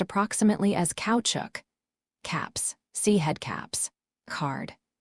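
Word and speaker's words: caoutchouc: Note the word kaya is pronounced approximately as couchuk caps.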